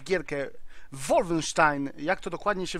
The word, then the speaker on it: Wolfenstein: graczy a więc pogram sobie troszkę w gierkę Wolfenstein jak to dokładnie się wymawia Wolfenstein Wolfenstein Wolfenstein Wolfenstein Wolfenstein jest to seria gier